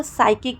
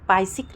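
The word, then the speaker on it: psychic: सी एच आई सी तो हम इसको साइकिक पढ़ते हैं पायक नहीं पढ़ते हैं ठीक है दोस्तों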